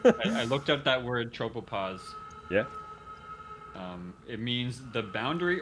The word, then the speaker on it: tropopause: Tropopause. I guess some tropopause. Tropopause. I assume stratosphere is higher. Where is It rhymes with cause, gauze, tause, applause, menopause, clause, pause, yaws, and because.